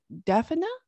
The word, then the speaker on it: Dymphna: sense and uh and her name is pronounced daphna okay the patron saint